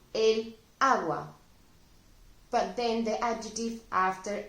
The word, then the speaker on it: agua: ill I'll explain this water which is agua it's a feminine noun it ends in a and it begins with a sound as well agua an ace in a straight syllable that means that if